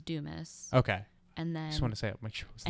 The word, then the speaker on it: Dumas: been saying it wrong it's on the French version is do ma and then my name is Dumas okay and then I